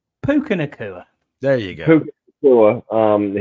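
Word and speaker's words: Puka Nacua: Puka or whoever the fuck our official name pronouncer. Puka Nakua.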